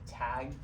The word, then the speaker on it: T4G: So you can kind of pronounce it as like tag, and like yeah, again like technology and social good.